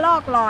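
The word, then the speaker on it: รอกลอย: เรา อยู่ ที่ เกาะ รอ กลอย มัน ไม่ ได้ อ่าน ว่า รอก ลอย นะ มัน อ่าน ว่า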